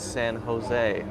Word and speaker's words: San Jose: and here's the reason because it's not English there are a lot of names used especially in around the west coast or the southwest of the United States which have a J in them and the J makes an H sound because in Spanish the